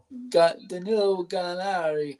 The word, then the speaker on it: Danilo Gallinari: Danilo Gallinari. Oh, thank you for your pronunciation, AJ.